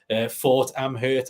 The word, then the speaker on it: Fort Amherst: Fort Amherst, I believe it's pronounced, was like through these old caves in a fort.